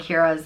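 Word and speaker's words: Ciara: And the girl version is Kira, just without the N on the end. So Kieran and Kira are... We all know a ton of Kieran and Kiras in Ireland.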